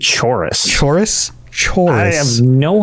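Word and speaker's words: Chaurus: was the pronunciation then chorus okay so it's not a CH it's a c I refuse chorus because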